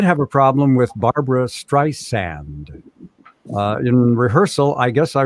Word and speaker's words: Streisand: It's Streisand, Streisand, Streisand."